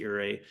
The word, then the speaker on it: Ouray: Great example with Ouray, just to start, is making sure we pronounce the name right.